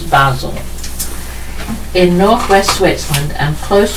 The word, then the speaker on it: Basel: pronounce it but it's the correct Swiss pronunciation is Basel in northwest wetland and